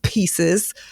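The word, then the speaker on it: PCEs: Positive childhood experiences, PCE, little s for plural, pronounced pieces for the abbreviation, actually mitigate ACEs.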